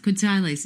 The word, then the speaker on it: quetzales: Quetzales is how to pronounce the Guatemalan dollar.